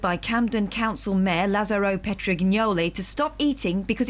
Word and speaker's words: Petrignoli: Johnny Bucknell, 58, was ordered by Camden Council Mayor Lazzaro Petrignoli to stop eating because it's banned in the chamber. I would have said it was a soft G.